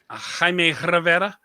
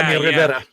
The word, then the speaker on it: Jaime Rivera: Jaime Rivera. You gotta really be able to roll the tongue. Yeah, Jaime Rivera.